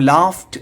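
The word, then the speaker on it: laughed: ലാഫ്റ്റ് എന്ന് പറഞ്ഞാൽ അത് ഉച്ചാരണം ലാഫ്റ്റ് എന്നാണ് കേട്ടോ.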